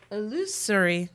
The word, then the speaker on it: illusory: Illusory.